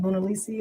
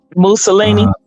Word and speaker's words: Mussolini: Mona Lisi or what is it? Ma, how do you say that? Mussolini.